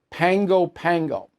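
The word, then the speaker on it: Pago Pago: from Pango Pango it says pgoo but you pronounce it Pango Pango postcard is from um Lloyd Romeo he says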